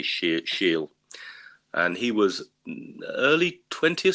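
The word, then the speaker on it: Schiele: german uh egon now i don't know how to pronounce his surname it's spelled s-c-h-i-e-l-e so i'm going to say she'll and he was early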